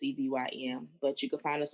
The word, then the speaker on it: Sevyn: So when you put in 87, it's not spelled the regular way. It's Sevyn.